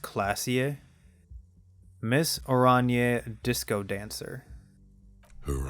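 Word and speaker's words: Klaasje: of tips so i do know this is pronounced classier miss oranie disco dancer her eyes are brown and her face is speckled with birthmarks she can't be more than 28.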